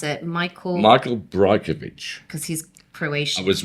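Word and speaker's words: Brajkovich: His name, I can never pronounce it. Michael Brajkovic.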